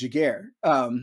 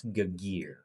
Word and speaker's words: Giguere: I had said it was Giguere, It but is Giguere.